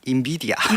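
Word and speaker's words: NVIDIA: 어 일단은 우리나라에서는 엔비디아라고 하지만 현지 발음은 인비디아 예 거기에 가깝다고 하고요.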